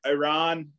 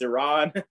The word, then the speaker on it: Iran: it's going to be tough I think our Iran I keep saying it wrong it's Iran they um they they did not look very